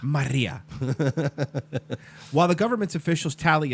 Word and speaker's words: Maria: I believe it's pronounced Hurricane Maria. Maria.